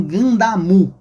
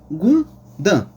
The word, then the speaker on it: Gundam: Emp no Japão, no Japão, né? Seria o nome como Gandamu, né? Mas aqui no Brasil, né? um pouco mais fácil de pronunciar, ficaria Gundan, né? Ou, né? Se falar tudo rápido, ganda, né?